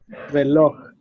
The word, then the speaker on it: reloj: I'm going to read, for example, entender, mayor, reloj. So the stress is in the last syllable.